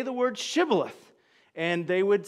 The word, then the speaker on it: Shibboleth: If you are so, as you say, say the word Shibboleth. And they would say, because they couldn't pronounce the sh sound, they'd say, Sibboleth.